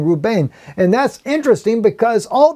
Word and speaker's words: Reuben: very name means behold a son okay Reuben roo-roo Bain is how you actually pronounce his name Reuben and that's interesting because all the time when